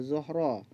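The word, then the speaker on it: زهرة: Tulisannya zahratun, bacanya zuhra.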